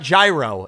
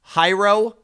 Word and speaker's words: gyro: It's not gyro. It's It's hyro. How do you say that word? It's Greek. It's Greek.